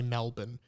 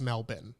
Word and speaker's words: Melbourne: know how to say Melbourne because like a lot of Americans say melbourn but everyone says melbin right in Australia and like there was